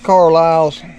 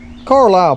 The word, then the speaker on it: Carlisle: Carlyle irises grow leave them there remember her Carlisle family car I'll family however you want to pronounce it and that it was CA RL i SLE they're the ones who